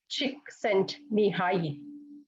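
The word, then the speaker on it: Csikszentmihalyi: yeah so flow is the concept invented by chick sent me high okay this is how it's pronunciation and he's a psychologist and professor so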